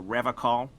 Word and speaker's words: Revachol: He pronounces Revachol with Yeah. a hard K, unlike other people. You said Revachol? I like to pronounce it the hard way.